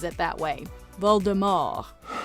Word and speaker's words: Voldemort: The book's author also acknowledged being possibly the only person who pronounces it that way. Voldemort.